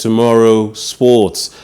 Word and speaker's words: TMRW Sports: a younger golf audience the company's name is pronounced tomorrow sports and mike mccarley who